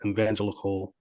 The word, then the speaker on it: evangelical: Evangelical voters. Did I say Evangelical. that right? Evangelical. There you go. There you go. E Yeah, no yeah. E it's the E evangelical.